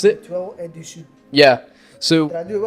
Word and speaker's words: Dessus: There's obviously what the brand is, Letoile or Dessus. So you know the S at the end is silenced out. So you have so if you want to try and pronounce it, Letoile and Dessus.